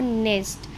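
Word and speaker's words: knee: देखो नी यहां पर एन से पहले के है तो इट मींस की जो के की साउंड है वह क्या हो जाएगी साइलेंट हो जाएगी नेक्स्ट है हमारे पास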